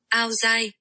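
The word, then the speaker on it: áo dài: Okay, well, I don't know how to say this, but it's AODAI, and this is apparently the pronunciation from Google. Aozai.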